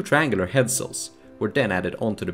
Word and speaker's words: headsail: are pronounced mainsail, headsail, etc.